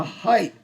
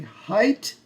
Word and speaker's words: height: Height remembers how tall something is. Height's a hard word to spell because it has lots of silent letters. The E is silent, the G and the H are silent.